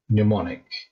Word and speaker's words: mnemonic: Or random words, mnemonic, with a silent M at the beginning.